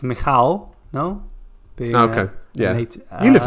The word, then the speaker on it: Michał: Well, I think first it's Michał.